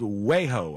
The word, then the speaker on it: Wejo: They did this with this company called Wejo, I think is how you pronounce it, W-E-J-O.